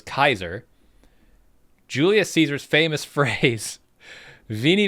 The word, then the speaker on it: Caesar: So this is how classic classical Roman spoke. Caesar was Kaiser.